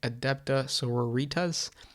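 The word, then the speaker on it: Adepta Sororitas: thing before I go I will forever say adaptive sororities I know the common thing the GW does and the correct way of doing it is pronouncing it adept essaouira ritas that makes me think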